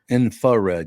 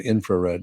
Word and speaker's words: infrared: of them would probably miss the rart really infared yeah they maybe not most but probably at least 25% yeah probably because we don't pronounce it infrared no we don't although we supposed to supposed to infrared yeah that's how you pronounce it Louisiana can't